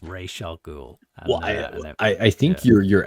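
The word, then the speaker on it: Ra's al Ghul: by the fact that he got him to pronounce it as Raz in in Batman Begins cuz it's always been Ray Shall Ray Shall Ghoul.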